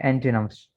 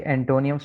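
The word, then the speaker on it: antonym: ठीक है, एंटोनिम्स। ये एंटोनियम्स, इसको आमतौर पर पढ़ा जाएगा हिज्जे के एतबार से, लेकिन सही नहीं है। इसका सही तलफ़ुज़ जो है वो है एंटीनम।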